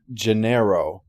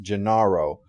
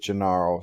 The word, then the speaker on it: Gennaro: of hammond's investors incidentally i know the film pronounces it genero but i have never heard that pronounced that way anywhere else every person i've met with that name has been pronounced gennaro even scott brick in the audio version of this book pronounces it gennaro so pardon me if i continue pronouncing it that way instead of the two